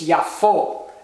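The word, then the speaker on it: יפו: the holum VAV which is O so it's yafo and that's Hebrew for Jaffa so now uh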